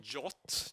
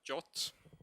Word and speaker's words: JWT: It's actually called JOT, JWT. That's how you pronounce it, JOT, of some inexplicable reason, I don't know.